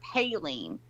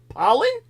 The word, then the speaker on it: Palin: __ ] confuses me it's not Sarah paline it's like Payton nobody says that how do I pronounce it pollen pollen like pollen we're allergic to let me look at